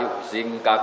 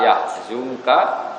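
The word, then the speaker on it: يحزنك: Makanya kita bacanya fala yahzunka qauluhum bukan fala yuhzinka.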